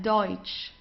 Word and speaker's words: Deutsch: So we very often have this combination of e and u. So it's oi. Okay. The pronunci pronunciation is oi. Okay. Let's try that. Deutsch.